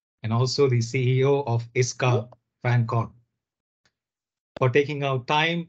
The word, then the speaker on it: ISCA: my iska team so I hear some of you pronounce uh iska in different ways so we are known to uh known to our shop name iska you can address us as tip iska and um I wish